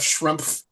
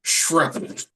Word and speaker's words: Schrempf: And I was like, oh, I've been saying it wrong. Like, let alone that, you legit enunciate every letter in his last name. Schrempf.